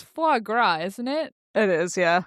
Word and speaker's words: foie gras: Well, it's foie gras, isn't it? It is, yeah. Yeah. Oh, foie gras, yeah.